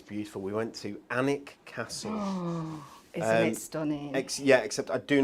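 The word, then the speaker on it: Alnwick: beautiful we went to anik castle yeah except i do not understand because it's spelt a-l-n-w-i-c-k which surely is at allen wick but it's not his annika and it castle anyway and it's where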